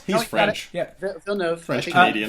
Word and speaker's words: Villeneuve: Anyways, if you don't know what Sicario is, it's basically Denis Villeneuve. Is that how you pronounce his name? He's French. Yeah, Villeneuve. French Canadian. Villeneuve.